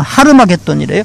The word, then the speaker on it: 하르마겟돈: 아마겟돈이요. 난 이거 잘 모르지만요. 말 들어보니까, 아마겟돈, 좀 더 정확하게 발음은 하르마겟돈이래요. 하르는 산이라는 뜻이라고 그랬고, 마겟돈은 갓다드의 파생어인데, 갓다드 모으다.